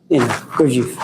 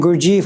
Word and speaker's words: Gurdjieff: I butchered it, but Gurdjieff.